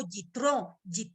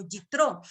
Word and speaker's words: Yitro: De hecho, Jetro en hebreo es algo así como Yitro, o sea, no se lo voy a poder pronunciar nunca bien, pero es básicamente se pronuncia así como Yitro.